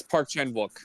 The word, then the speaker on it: Park Chan-wook: Like, I feel like if this film wasn't directed by Park Chan-Wook, if I said his name right, did I say it right? Yes, Park Chan-Wook.